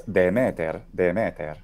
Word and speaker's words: Demeter: The modern Greek pronunciation of the ancient Greek name is Dimitir, but in classical Attic it's Demeter.